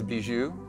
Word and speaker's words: Bijoux: i love this one his name is bijou it's pronounced bijou he's an interstellar being